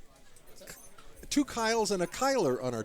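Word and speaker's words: Cyle: CY l e and some people think that because his first name begins with C that the the name is pronounced Syal thinking it's a soft C but it is more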